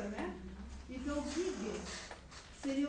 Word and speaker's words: Giges: Gog, como Giges, identificado, Giges, se a gente for pronunciar da forma semita, né, que o G sempre é G, nunca é G, né, nunca é J, né, então Giges seria o nome de